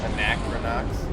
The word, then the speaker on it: Anachronox: Anachronox?